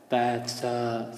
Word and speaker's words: FAFSA: Fafsa. Say it. Good. Don't say FAFSA. Sometimes people say FAFSA, but they're mixing up the letters there. It's F-A-F-S-A, Fafsa. So practice saying it, make sure that you know how to say it.